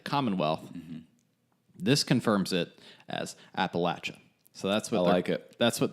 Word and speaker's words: Appalachia: If you throw a Y in there, it's game over. Appalachia, no. There's no Y.